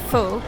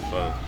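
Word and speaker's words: phở: By the way, you know it's pronounced pho, right? Is it? Yeah, not pho.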